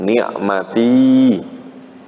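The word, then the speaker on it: نِعْمَتِي: Itu aslinya, yaknya itu sukun. Ya, yang saya lingkarin ini aslinya apa? Sukun. Berarti bacanya apa? Ni'mati.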